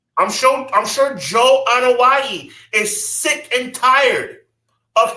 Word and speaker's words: Anoa'i: Roman Reigns, I'm sure Joe, how do you pronounce his last name? Anoa'i. I'm sure Joe Anoa'i is sick and tired of hearing this comparison because it's not a good comparison.